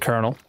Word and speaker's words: Colonal: I pronounce it Colonel.